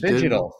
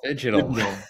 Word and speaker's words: Phygital: Fidgetal? Phygital. Fidgetal.